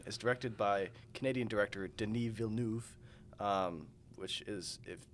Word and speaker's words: Denis Villeneuve: So the film Dune is directed by Canadian director Denis Villeneuve, which is, it's just like everything else in French, where you have to cover up half the letters to pronounce it properly.